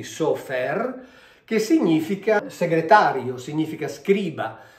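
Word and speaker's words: סופר: Se noi invece di mettere questi due suoni vocalici mettiamo questi due, questa è una O e questa è una E, qui abbiamo SOFR, quindi sofer, che significa segretario, significa scriba, significa enumeratore, cioè uno che fa dei conti.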